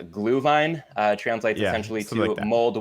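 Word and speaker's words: Glühwein: likes it yeah absolutely I'm probably gonna botch the pronunciation but I think the the German word is a glue line uh translates essentially to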